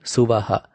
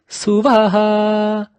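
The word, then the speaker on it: स्वः: Take note as to how I brought the high pitch in Suvaha. It went Suvaha, Suvaha. That Vaha at the ending is brought at a high level, high pitch.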